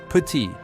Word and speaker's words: petit: Petit, petit, the T is silent.